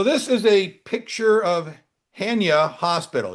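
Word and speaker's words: Chania: So this is a picture of Hania Hospital. In Greek, the C is silent. Hania. And this made it into the newspapers.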